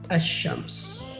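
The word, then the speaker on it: الشمس: While in the sun letters, the lam is assimilated to the first letter of the noun. For example, ash-shams.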